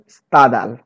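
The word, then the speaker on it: Stendhal: উচ্চারণটা হচ্ছে স্তাদাল।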